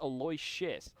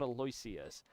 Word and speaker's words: Aloysius: All right, I have just been informed by my production that it is pronounced Aloy, not Aloyas.